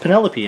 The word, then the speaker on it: Penelope: I didn't know how to pronounce it, but now I know it's called Penelope, and that the translation and the spelling in